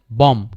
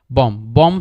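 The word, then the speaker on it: bomb: সো দেখেন যে আমাদেরকে বলছে এম প্লাস বি এর পরে পরপর থাকলে বি এর পরে কোন ভাবেল যদি না থাকে তাহলে আমাদের বিটা উচ্চারিত হয় না। বিটা কমপ্লিটলি সাইলেন্ট থাকে। জিও। বি ও এমবি কি হবে? বম্ব। কি হবে? বম। বম্ব না। বয়। এইযে বিটা উচ্চারণ হয় নাই। বিটা যদি উচ্চারিত হইতো তাহলে এখানে কিন্তু এরকম হইতো যে বম্ব। বম্ব না। বম। ঠিক আছে? বম। বি ও এম এতটুকু আর বিটা হচ্ছে উচ্চারিত হবে না।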